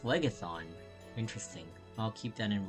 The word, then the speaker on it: Phlegethon: Oh, it's pronounced Phlegethon.